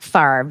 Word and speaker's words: Favre: far money okay Brett Favre still o I'm saying it right right it's Favre even though it's f a v r e Brett Favre still owes